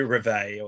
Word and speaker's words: reveille: Yeah, well, it's probably reveille or something like that, or reveille. Yeah. The way I was saying it was the Australian pronunciation, and therefore the correct pronunciation.